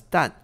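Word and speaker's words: 石: are done is and the character here that we see for done is the modern character for sure or rock but it should be pronounced as done when used as a unit of measurement which is what it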